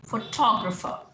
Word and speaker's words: photographer: यानी आपने यहाँ पे टॉ, फोटोग्राफर. So this is called syllable stress. अब फो पे डाल दोगे तो वो दूसरा सिलेबल हो गया, तो प्रोनाउंसिएशन वेरी कर जाती है.